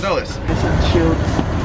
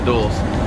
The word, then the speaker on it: Dulles: So we're just going to do a little flash forward ahead to Washington Dulles. That's how you say it, right? Washington Dulles? Where's the Dulles? I used to call it Dulles all the time, but now I call it Dulles.